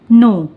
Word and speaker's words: know: KNOW, नो। बहुत लोग इसे कनो भी पढ़ते हैं, जो कि बिल्कुल गलत होता है। इसका करेक्ट प्रोनाउंसिएशन होता है नो।